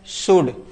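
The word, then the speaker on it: should: शुड।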